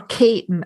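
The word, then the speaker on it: Keating: Dundrum in tieri or Kon as we say in in in tieri it's spelled keting but we say Kon and um her mother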